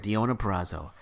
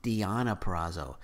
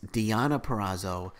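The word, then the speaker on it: Deonna Purrazzo: pronouncing her name wrong that it's not diona praso it's diana perazzo so i've been pronouncing her name wrong and i apologize on that so it's diana perazzo defending the impact knockout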